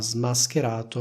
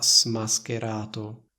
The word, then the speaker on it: smascherato: sua truffa come vedete Io ho detto ha smascherato non ho detto a smascherato Cosa vuol dire smascherare vuol